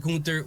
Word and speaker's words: Gunther: pronounce it Gunther Gunther I don't know he said it's Gunther so I'm G say go